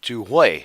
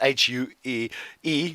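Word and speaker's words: Huế: We would spell it H-U-E-E. We would say Hue, but it's Hue. The Vietnamese way of saying it.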